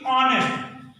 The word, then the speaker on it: honest: जिससे हमने कहा कि ऑनेस्ट, Mohan is एन ऑनेस्ट मैन, ये HONEST है, HONEST हॉनेस्ट है, लेकिन इसका उच्चारण हम ऑनेस्ट करते हैं, एच साइलेंट होता है, ऑनेस्ट।